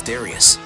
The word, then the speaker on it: Darius: Pronounced Darius according to the Japanese original title, but nowadays is better known just as Darius.